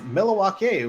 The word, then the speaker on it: Milwaukee: of this RS Milwaukee it's derived from a Native American pronunciation Algonquin to be specific pronounced well Alice Cooper anyway says milak which is alonquin from the good land and you know Wisconsin's